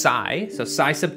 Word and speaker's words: psi: another subscriber Ryan uh it's pronounced Psy so PSI sub T